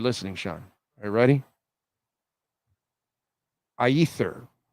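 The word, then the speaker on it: Aethir: Sean are you ready ather I think is how it's pronounced a e t h i r it's about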